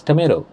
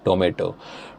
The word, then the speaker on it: tomato: The American pronunciation is tomato, but in India we say tomato.